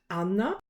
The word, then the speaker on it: Anna: do a word-by-word translation anna is spelled the same but pronounced differently amna perhaps surprisingly though the